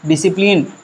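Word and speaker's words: discipline: देखिए एस के बाद क्या आ गया? सी आ गया। तो ऐसी कंडीशन पे इसको नहीं पढ़ते हैं। लास्ट में क्या आ गया? इ आ गया। यह भी लेटर क्या है? साइलेंट ही। इसका नाम ही साइलेंट ही है। इसे पढ़ेंगे क्या? डिसिप्लिन।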